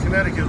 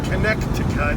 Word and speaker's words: Connecticut: want to mention about connecticut that always cracks me up is nobody pronounces it the way it's spelled you don't say connect to cut he's gonna spit when